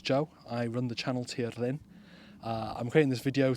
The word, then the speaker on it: Tirlun: some questions as well the name of the channel is pronounced properly as TI Lin TI Lin but at the same time if you call it tiin or even ton it doesn't matter it's a different language